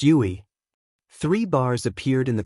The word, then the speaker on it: UI: Tip: It's pronounced Yui.